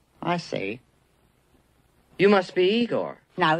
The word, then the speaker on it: Igor: this Frederick Frankenstein I see you must be Igor now it's pronounced I go but they told me it was Igor well they were wrong name weren't they uh